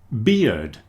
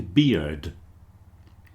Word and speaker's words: bear: Bear rhymes with hair and there and chair.